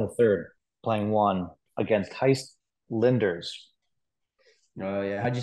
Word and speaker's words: Gijs: I was down 4-1 in the third, playing one against Heist Linders. Oh yeah, how'd you spell that?